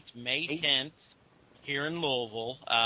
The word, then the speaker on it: Louisville: That's Louisville. I know the pronunciation is weird for some people.